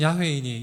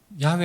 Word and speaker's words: 야훼: 원래 자음만이 기록되던 이 야훼 철자를 아도나이의 모음을 붙여서 여호와의 발음으로 만든 것입니다. 그래서 정확한 발음은 야훼입니다. 나는 야훼이니 이는 내 이름이라.